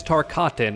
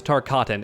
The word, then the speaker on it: Tarkatan: Don't mispronounce it, learn how it's said. It's Tarkatan, okay? Practice it in the mirror if you have to. If you're a Mortal Kombat fan, then learn how to pronounce Tarkatan.